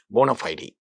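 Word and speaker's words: bona fide: Actually ये दो अलग अलग वर्ड है, और इसका इस्तेमाल बोनाफाइड, इसका करेक्ट प्रोनाउंसिएशन, करेक्ट स्पीच में ऐसे बोलना चाहिए, बोनाफाइड.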